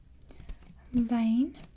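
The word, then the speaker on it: wyn: the are there be we have vein vein you remember the W sounds like a V and that means wine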